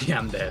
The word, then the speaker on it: Yandere: Shade goes Yandere for Shredder.